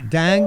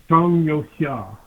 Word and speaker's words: Zhang Youxia: My question is this new guy, Dang, you say his name is he any better, or is he just Tweedledum and Tweedledummer? Chong. Thank you. Well, Chong, Z-H-A-N-G, Zhang, Yo, Y-O-U, Xia, X-I-A, Zhang Yo Xia.